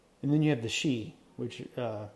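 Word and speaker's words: sidhe: looks like it's shy or shade but it's pronounced shei um which are the uh the I guess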